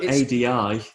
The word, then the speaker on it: Adi: Although ADI, the name is pronounced a D.